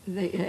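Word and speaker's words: Weyher: Alors, il paraît qu'en Belgique, le W se prononce V. Bon, moi, je veux bien. C'est un condensé parce que Weyer a écrit, autant que je me souvienne, ces trois volumes.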